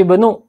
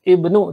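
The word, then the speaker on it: ابن: ya ismul Jadi gini mengenai Hamzah ini kalau di depan dia harus dibaca ya seperti Hai Ibnu misalkan tidak ada huruf lain di depannya berarti harus Ibnu dibacanya seperti juga Ismu Ya ismul moderasi seiden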